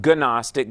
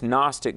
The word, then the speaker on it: Gnostic: It's not Gnostic, but it's Gnostic. The G is silent, G-N-O-S-T-I-C.